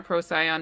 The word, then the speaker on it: Procyon: It went retrograde conjunct the star Procyon or Procyon, depending on how you say it.